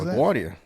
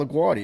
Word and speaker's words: LaGuardia: What is LaGuardia. That's it's a New York name. It's Italian dude. That's how you pronounce LaGuardia. You don't go LaGuardia or whatever you Southerners would say.